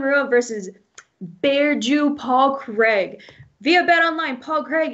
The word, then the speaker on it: Craig: squad's back boy um paul badu craig or craig if you're american i know you guys pronounce it differently um this is a